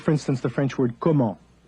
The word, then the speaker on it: comment: the French word comment, which is written C-O-M-M-E-N-T, speakers of English will look at that instinctively through the prism of their own writing system and say comment, when in fact the French word is pronounced comment and means something totally different.